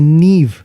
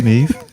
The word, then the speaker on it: Neve: You pronounce the name right. It's Nev Campbell. Oh, a lot of people say Neve.